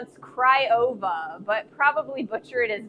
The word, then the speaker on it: Craiova: Craiova, but probably butcher it as badly.